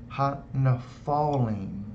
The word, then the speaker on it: Nephilim: So if you got rid of all those vowel points there, that would actually be pronounced ha-nephalim. Not Nephilim, but Nephalim.